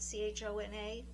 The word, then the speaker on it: Chona: And so for that one, I picked Chona, I believe is the way you pronounce it, c h o n a, Chona, from The Heaven and Earth Grocery Store by James McBride.